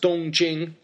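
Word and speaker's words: 东京: pronounce it Tokyo, but in Mandarin these characters are pronounced Dongjing, first tone, first tone.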